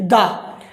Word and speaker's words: the: अगर प्रोनाउंस अगर आपका व्यंजन से हो रहा है तो उसको दा बोलेंगे, और अगर उसका प्रोनाउंस अगर फर से हो रहा है तो उसको दी बोलेंगे।